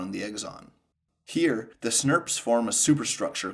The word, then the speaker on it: snRNP: ribonuclear proteins is snrnps which we can say phonetically as snps so RNA splicing requires